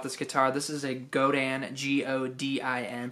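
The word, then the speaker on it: Godin: of questions about this guitar this is a godan g-o-d-i-n pronounced godan multi-act nylon they're made right in canada they're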